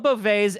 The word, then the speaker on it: Beauvais: Beauvais.